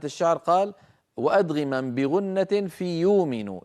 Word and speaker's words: يؤمن: إمامنا الجزري من أجل ضرورة الشعر قال: وأدغما بغنة في يؤمن. يؤمن أصلها يؤمن. نعم، آمن يؤمن. فإذا أبدلنا همزتها واوا لأنها ساكنة يصير النطق يومن، وهذا أمر تفعله العرب بل تفعله قريش نفسها.